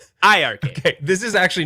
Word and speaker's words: iiRcade: with two eyes, but you don't pronounce it with the eyes at all, and it's iiRcade with two eyes, but it's pronounced iiRcade.